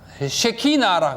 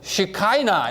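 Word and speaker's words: שכינה: 하나님의 임재의 빛이고 그것을 유대인들은 쉐키나라 그럽니다. 영어로 읽으면 시카이나 이렇게 읽어요.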